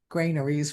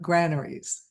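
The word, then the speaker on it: granaries: not pronounced graneries for some reason, but graneries.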